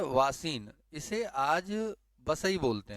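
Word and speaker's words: वसई: सब कुछ मौजूद है इसका जो नाम आज प्रोनाउंस कर रहे हैं बेसिन बोल रहे हैं क्या बोल रहे हैं बेसिन अंग्रेजी में बेसिन बोल रहे हैं जगह का नाम लोकल स्तर पर क्या है बसई महाराष्ट्र में यह महाराष्ट्र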